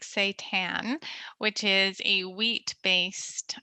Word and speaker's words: seitan: you can get creative and try something like seitan which is a wheat based uh plant protein um so it's spelled s-e-i-t-a-n um and you can do all